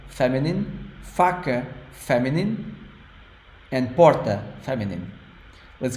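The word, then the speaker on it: faca: just like in Kaza the first a is strong open ah and the last one is soft F fak fak you think it's masculine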